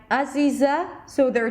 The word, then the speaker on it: Aziza: Let's listen to Aziza from Indonesia. This is the way I pronounce my name in my native tongue.